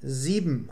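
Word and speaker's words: sieben: Sie wird beim schnellen Sprechen 7 ausgesprochen. Zwischen dem B und dem M bleiben die Lippen geschlossen.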